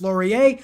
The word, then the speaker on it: Laurier: we have wilford wilfrid laurier of canada yes it is pronounced laurier i know my french the last best west